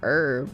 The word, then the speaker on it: herb: But I think Jules says like herb, which is different because the UK or British way of saying herb is herb.